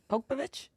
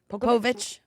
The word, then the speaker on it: Povich: Maury Popovich? Povich. Povich? Yeah, you added one more syllable in there.